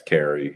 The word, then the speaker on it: Kari: Is that how you pronounce his last name? Sax Kari, yeah.